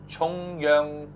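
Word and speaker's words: 重陽: to pronounce that again say chongyong Festival Chong Yong not Yong chongyong Festival chongyong yeah it's not Jong chongyong is different Jong is central government oh okay yeah you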